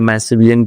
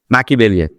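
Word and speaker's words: Machiavellian: ये आ गया वर्ड, वो जो मैशिविलियन की प्रोनाउंसिएशन होते थे भैया, ये देखिए जरा। अबे आना, आवाज नहीं आ रही है। मैकिवेलियन, यस द प्रोनाउंसिएशन इज मैकिवेलियन।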